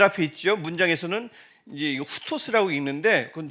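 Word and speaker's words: οὕτως: 문장에서는 이제 이거 후토스라고 읽는데 그건 잘 모르셔도 돼요.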